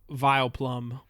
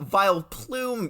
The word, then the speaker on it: Vileplume: you didn't and that that is of course vile plum well vile plume yes very very close pronunciation V you know because it's it's it's